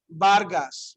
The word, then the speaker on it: Vargas: So you might hear somebody say, mi nombre es Vargas, right? Vargas, okay, but they're pronouncing it with a B sound, but it's actually what? Ve. So you want to say ve as in Victoria or be as in burro, okay?